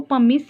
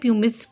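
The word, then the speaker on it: pumice: मैंने क्या बोला, प्यूमा जैसे हाई ब्रांडेड शूज़ पहनते हैं, तो आप इसको पमिस या प्यूमिस प्रोनाउंसिएशन आप जैसे भी करें, ठीक है, बस आपको ये लिंक होना चाहिए।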